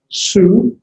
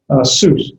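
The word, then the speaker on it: סוס: So its pronunciation would be the samek with the shurk, sus. It's actually monosyllabic, sus.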